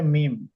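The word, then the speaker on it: ميم: দেখেন মি এইযে এটা এটাকে বলে মিম ম যে আরবিতে আমরা বলি না এটাকে বলে মিম এইযে মিম এইযে মিম এটাকে বলে মিম কি বলে এটাকে মিম মিম মিম বলেন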